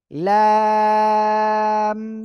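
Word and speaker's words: لام: বলেন তো একসাথে লাম এই অক্ষরটা উচ্চারণ করতে হবে কিভাবে দেখেন জিহ্বার আগা আগার কিনারা বাম পাশ ডান পাশ যেকোনো পাশে হতে পারে জিহ্বার আগার কিনারা তার বরাবর উপরে তালুর সঙ্গে লাগাবেন লাগিয়ে উচ্চারণ করবেন লাম ওকে যাই হোক লাম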